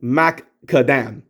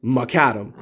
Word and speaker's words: Maccadam: name i pronounced it mac kadam macadam because i saw the two cs but thanks to wheel jack i now know the pronunciation is macadam so i'm guessing one of the c's is silent but whatever so yeah